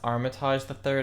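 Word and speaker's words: Armitage III: It's pronounced Armitage the Third, and Armitage the Third is just a franchise name.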